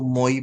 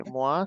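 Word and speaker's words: moi: यनो बे language इसलिए कभी ऐसे हम एम ओ आई पढ़ते तो लोग इसको मोई पढ़ते हैं है ना पढ़ते एस को पढ़ते है ब ऐसा नहीं है इट्स स्वा वावा त्वा रुवा ओके मवा स्वा त्वा रु त्वा तुवा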